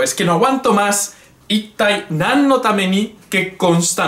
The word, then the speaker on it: いったい: Tiene que petar esto, ¿eh? Tiene que sonar aquí fuerte.